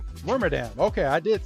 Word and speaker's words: Wormadam: And then my rare is a non-holo, how do you pronounce it? Wormadam? Wormadam.